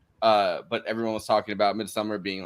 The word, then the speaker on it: Midsommar: Aster's 2019 Midsommar, which apparently gets pronounced both Midsommar and, in some interviews I've seen, Midsommar. I refuse to pronounce it that way. Midsommar. Well, I think you're supposed to say Midsommar. Midsommar. Yeah. Midsommar. You have to sound like you're from IKEA to do that.